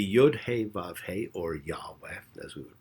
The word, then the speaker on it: Yahweh: The Yod He Vav He, or Yahweh, as we would pronounce it, a name with meaning.